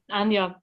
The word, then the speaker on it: Anya: Do I pronounce it Anya? Anya, yep. Anya. It's like with a Y.